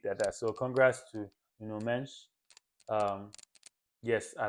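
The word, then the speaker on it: Nuno Mendes: So congrats to No Mench. Um, yes, I like to pronounce their name properly.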